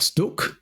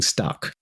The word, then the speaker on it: Stuck: I'm sure he's not going to accept us saying stuck. He's going to make us say Sto as we should.